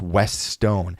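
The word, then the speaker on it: Westone: The company is pronounced West Stone.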